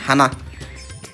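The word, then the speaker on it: はな: হানা ফুল মানে হানা জাপানিজ ভাষা হবে হানা উচ্চারণটা হবে হানা বাংলা ভাষায় মিষ্টি মিষ্টি জাপানিজ ভাষা হবে আমাই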